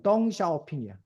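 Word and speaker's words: 鄧小平: 근데 이거를 중국어로 읽으면 덩샤오핑이야.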